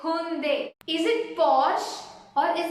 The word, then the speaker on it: Hyundai: You might wrongly say it as Hyundai, Hyundai. I don't know what all things you mispronounce it is. I have even heard from the people pronouncing it in the same way. But here you should call it as Hyundai. It's Hyundai.